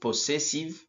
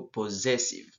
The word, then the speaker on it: possessive: la prononciation nous avons le double s ici se prononce comme Z pas possessive plutôt possessive alors quand on dit